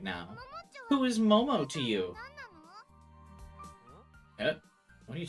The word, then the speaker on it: Momo: Who is Momo to you? What are you talking about? Who's Momo? Or Momom? Oh, she's saying her name wrong. Oops. Nono glanced at Momo.